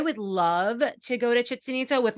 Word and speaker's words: Chichen Itza: really throws me off, like I went to Chichen Itza. Am I saying it right? Chichen Itza? Chichen Itza.